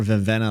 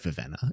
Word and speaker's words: Vivenna: I actually thought there was a lot more Vivenna lovers out there. And I'm calling her Vivenna. I'm not calling her Vivina. I don't care, Sanderson. Spelled with two E's, okay?